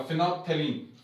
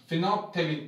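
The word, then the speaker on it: phenolphthalein: तो फिनोप्थेलीन एक बार आप देख लो दोबारा से, पी एच ई एन ओ L, phenol, ठीक है, पी साइलेंट था, फिनोप्थेलीन, टी एच ए एल ई आई एन, फिनोप्थेलीन।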